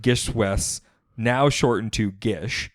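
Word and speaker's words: GISHWHES: Gishwes, pronounced Gishwes, now shortened to Gish, right?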